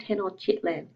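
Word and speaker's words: Tenochtitlan: of the Aztecs called 10 or chitlin so some of the T's are silent and it is a bit of a tricky one to pronounce but as long as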